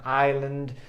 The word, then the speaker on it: island: I love that island. Fíjate en el detalle. La S no se pronuncia en island.